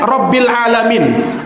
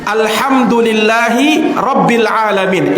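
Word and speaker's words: رب العالمين: alamin Alhamdulillahi robbil alamin itu pakai huruf main jangan di pajangan membacanya dengan huruf apa namanya huruf hamzah dia baca alhamdulillahirobbilalamin kalau sekilas dengan aja kayak biasa aja Gan Padahal kalau dia tidak hurufnya diganti dengan huruf hamzah bukan huruf Ain ini kesalahan besar alhamdulillahirobbilalamin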